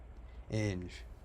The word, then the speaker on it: Inge: Inge.